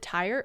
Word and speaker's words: Tyre: all learn together what is it tire tire it's tire like the wheels on a car or the tires on